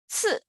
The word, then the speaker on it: ci: So anyway, CI with the fourth tone, how do you pronounce it? 次.